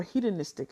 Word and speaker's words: hedonistic: So this is what psychologists and sociologists refer to as the hedonistic treadmill, or hedonistic, actually is how you pronounce that, sorry.